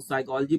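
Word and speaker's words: psychology: समझ में आता है लेकिन यहां पी के बाद ऐसा आएगा यह की वाला साइलेंट हो जाता है तो साइकोलॉजी पड़ते हैं ठीक है इस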